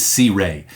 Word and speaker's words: Sirui: And yes, if you're curious, that's how you pronounce the name of this company. Sirui is Sirui.